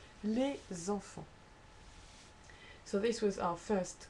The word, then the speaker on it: les enfants: Think for example, les enfants. This is your S, this is the next word that starts in a vowel, and you say les enfants, because that's a noun and that's a déterminant, so therefore you do link it. Les enfants. Make sure you say les enfants. This is not les enfants, but you have to say les enfants, okay? Enfants is pronounced as one word.